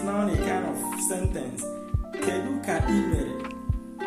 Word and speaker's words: Kedu ka imere: So Kedu ka imere, the same way you pronounce it, the way you are going to write it.